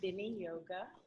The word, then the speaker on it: Viniyoga: So it is pronounced Viniyoga.